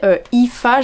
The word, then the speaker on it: Aoife: Parce qu'on suit Julia, du coup la mariée, Aoife, j'ai regardé, ça se prononce comme ça s'écrit pas du tout comme ça, mais les noms irlandais c'est vraiment une dinguerie.